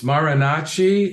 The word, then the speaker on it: Marinacci: post this video and find out but it's marinachi is your last name yeah it's spelled m as in Mike as in Allen